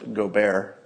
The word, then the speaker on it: Gobert: Somebody says he's pronounced Gobert, which sounds correct.